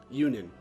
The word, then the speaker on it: Yunan: Yunan. Okay, so that's how to say his name. I think I pronounced it wrong earlier.